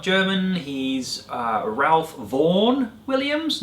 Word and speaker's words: Vaughan: by that German composer Ralph Vaughan Williams poetry pronounced von vm's and that wonderful piece